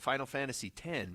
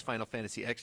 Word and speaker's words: Final Fantasy X: what there was a video game years ago Final Fantasy 10 but I thought it was Final Fantasy X till I was loudly corrected by all the